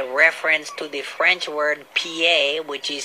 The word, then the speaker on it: pied: This is the story of the Pied Piper.